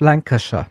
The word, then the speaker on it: Lancashire: Es heißt Lancashire, ne?